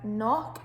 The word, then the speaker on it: knock: that one so as the first k on knock is silent and we've got number